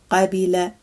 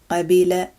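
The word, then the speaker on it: قبل: The opposite is qabila, qabila, to accept.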